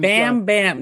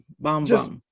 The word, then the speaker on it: Bam Bam: For the longest time, I was saying bomb bomb bomb. Like bum. I don't even know like you know the Jamaicans I'm not Jamaican, but the Jamaicans will correct you. So you got to say it right. You know, right? Bomb bomb. Exactly. Exactly. But that that just doesn't bam bam. Not bam bam bum bum.